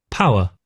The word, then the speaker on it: power: I think you're just a bit too strong on the W.